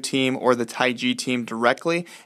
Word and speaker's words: TaiG: First off, I want you guys to know that there are only two legitimate jailbreaks out there, Pangu, which is spelled P-A-N-G-U, and Taig, T-A-I-G.